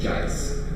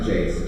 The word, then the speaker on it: Jice: It's ice, but with a J.